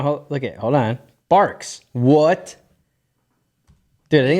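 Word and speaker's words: Barq's: Barks. What? Dude, I think it's pronounced Barks. With a Dude, with a Q. It's Barks root beer. So it's a Q. Yeah, my whole life I've called it Bargs, and I'm like, and it's my favorite.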